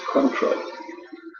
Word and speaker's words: Cointreau: C-O-I-N-T-R-E-A-U. It's pronounced Cointreau.